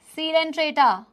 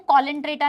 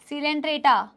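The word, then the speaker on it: Coelenterata: सीलेंट्रेटा, बार बार कह रही हूं, कॉलेंट्रेटा नहीं है, सीलेंट्रेटा।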